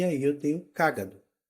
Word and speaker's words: cágado: é cado Caino então cágado tem a antepenúltima sílaba tônica Então ela é uma parox nesse caso cagado é uma paroxítona e cagado é uma proparoxítona então eu vou me referir